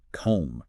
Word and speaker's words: combe: You don't try to sound the E or make the O a long vowel. It's a simple short O sound.